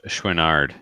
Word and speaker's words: Chouinard: It's pronounced Chouinard. Not a French guy.